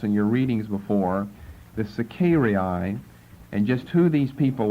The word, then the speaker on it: Sicarii: figure into the time of Antonius Felix, the Sicarii. Let me spell it.